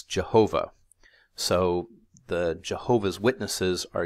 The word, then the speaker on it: Jehovah: If one literally reads through the Bible, they see the consonants for God's personal name mixed together with the vowels for the word that's replacing God's name, Adonai, which comes out as this funny Yahovah word, or when it's transliterated into Latin, it becomes Jehovah.